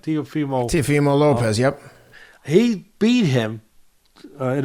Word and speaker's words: Teofimo Lopez: Teofimo Lopez, yep.